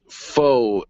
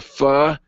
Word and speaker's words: Pho: now you're probably thinking what what did you just say 95 you might read it as Pho 95 but it is pronounced and uh he how